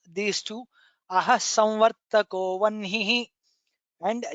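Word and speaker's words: वह्निः: There are also Shamitam, there are also people who pronounce as wahnihi and jahnuhu. We will not get into the grammatical uh, peculiarity of these things, but what we are following is as it is taught to us by our guru, which is aha samvartako vanhihi janhur narayano narah. That's how we have been pronouncing, that's how we will continue to pronounce.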